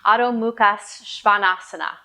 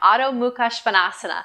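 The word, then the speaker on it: Adho Mukha Svanasana: And in Sanskrit, this is pronounced Adho Muhka Svanasana. Let me take that one more time. Adho Muhka Svanasana.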